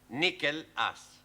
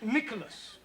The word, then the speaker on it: Nicholas: upon a times there was a man called nickel ass that's not quite right no no once on a time there was a woman called Nicklas it's pronounced Nicholas all right once upon a time there was